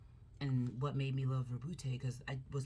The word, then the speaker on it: Roboute: It's not Robot, it's the Roboute. You gotta roll the R.